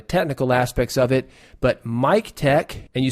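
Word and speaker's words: MikTek: We are brought to you today by Mic Tech Audio.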